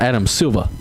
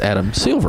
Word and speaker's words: Adam Silver: so it's it's sorry it's not Adam suva it's adam silver i guess i just